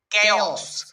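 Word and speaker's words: chaos: এটা কিন্তু চেওস উচ্চারণ করো না, আবার এটা সিএইচ এ চ হয়। আমরা জানি বেশিরভাগ ক্ষেত্রে সিএইচ এর উচ্চারণ কিন্তু চ হয়। তো এখানে কিন্তু চেওস উচ্চারণ করব না, এটার উচ্চারণ করব কেওস।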